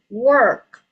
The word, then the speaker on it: work: The word is work. You may repeat work. Work. Yes. Work. Work. Yes. Work. Walk. Work. Okay. Walk. Very good. Yeah. So pengucapan K-nya harus jelas ya, kentara ya. Hard K.